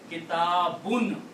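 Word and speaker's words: كتاب: Fa'alun, kitabun. It's not kitab. Kitab is not a word. Kitabun.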